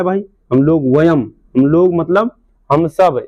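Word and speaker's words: वयम्: वयम होता है।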